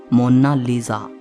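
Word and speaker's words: Monna Lisa: कोई इसे मोनालिसा कहता है तो कोई मोनालिसा कहता है, लेकिन इटालियन में इसकी करेक्ट प्रोनाउंसिएशन है मोनालिसा।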